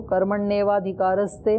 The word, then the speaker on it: कर्मण्येवाधिकारस्ते: कर्मण्येवाधिकारस्ते, एव नहीं एवा, आ भी तो है।